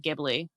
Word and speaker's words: Ghibli: It's Ghibli is the correct pronunciation, but nobody says it. Really? Really. There's actually like a reason for it or whatever, but it doesn't hurt anybody to pronounce it Ghibli.